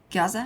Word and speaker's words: Giza: And they claim that there is, underneath the Great Sphinx of Giza, is that how you pronounce it? Giza?